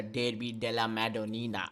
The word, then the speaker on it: Derby della Madonnina: And obviously the Derby della Madonnina. Oh my god, did you see that? I'm half Italian, the way I said it. That's how you say it.